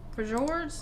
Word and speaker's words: fjords: News number 2 was a big announcement Carnival made, saying that fans will have an opportunity to experience the glaciers, fjords, native culture.